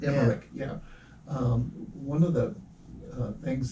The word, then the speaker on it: Emmerich: Emmerich? Oh, Moonfall, Roll- it's not Roland Blacklight. Emmerich, yeah. Emmerich, yeah.